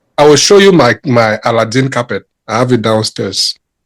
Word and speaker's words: Aladdin: It's Aladdin.